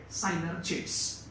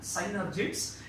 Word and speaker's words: synergids: On either side, you will get synergids. Actually, it is not pronounced as a synergids, it is pronounced as a synergids.